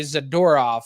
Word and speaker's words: Zadorov: Meyers and zadorov and I know I just pronounced his name differently twice but I'm trying to key in on that I'm gonna try and say zadorov because I think that's the correct one yeah Frank shifting to